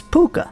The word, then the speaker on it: Puca: And in Shadowmoor, shapeshifter changelings include the wondrous Puka, like this handsome dude. Shown giving this Kithkin a very bad day, and spelled like the Irish P-U-C-A.